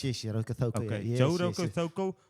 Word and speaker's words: Rokocoko: Did I pronounce it right? Yes, Rokocoko.